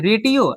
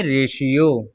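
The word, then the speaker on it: ratio: यहाँ पे टी के बाद क्या है? आई ओ है। क्या है? आई ओ। तो हमने रेटियो तो नहीं पढ़ेंगे हम। टी के साथ आई ओ है तो हम इसका उच्चारण क्या करेंगे? शा। तो हम पढ़ेंगे रेशियो।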